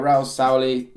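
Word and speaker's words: Raúl Sanllehí: to have Sven Mislintat, you're going to have Raul Sauli, that's how you say it.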